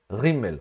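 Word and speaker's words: גימל: Por exemplo, quando eu leio na Torá e tem a letra Gimel sem dagesh, eu pronuncio R, Rimmel. Ou seja, neste caso eu vou dizer Vehatzeira Ramhi. Ram e não Gam, tá bom?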